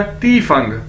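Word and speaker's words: 地方: अब दोस्तों हमारे पास नेक्स्ट वर्ड है Chinese D आई एफ ए एन जी, डी को हमें पता है हम ते से प्रोनाउंस करते हैं, तो क्या बन जाएगा, ती फंग, ती फंग यानी प्लेस,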